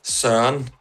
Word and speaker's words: Søren: Søren. Søren. It's without the R. It's just like Søren. Søren. Søren.